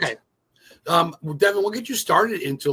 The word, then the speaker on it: Devon: Devon, right? Is that how you say it? Yeah, that's correct. Okay. Devon, what got you started into like horror movies and scary and paranormal and just film itself?